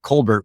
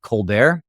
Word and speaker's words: Colbert: in San Diego and even though we always pronounced it Colbert when she got into real estate she always liked to pronounce it colar and she felt like it was a little